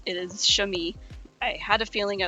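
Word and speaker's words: chamois: and the name of the animal is not chamoo it is shami I had a feeling I was pronouncing that name wrong um so I looked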